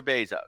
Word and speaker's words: Bezos: still can't figure out how to pronounce his name is it beef no sir Bezos but Amazon's doing wonderful